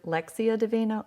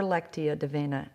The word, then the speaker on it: Lectio Divina: You can say it either Lectio Divina or Lectio Divina, and you're not wrong.